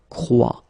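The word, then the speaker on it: croient: And phonetically here, as we saw, and is not pronounced, so you get the sound croix. Exactly the same sound as we've got here. Croix, croix, and then croix.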